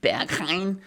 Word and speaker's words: Berghain: It's actually pronounced Berghain.